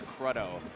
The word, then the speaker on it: Krudo: But yeah, the Krudo lore, the correct pronunciation, according to Kyle, is Krudo.